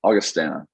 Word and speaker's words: Augustana: left you go to august how do you pronounce that anyway uh august augustana augustana um where you win 12-0 like we